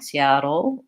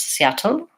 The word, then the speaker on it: Seattle: that but knowing that if I say it with a dark L Seattle Oh bottle o versus Seattle or bottle I'm gonna really have more that American sound so thinking about the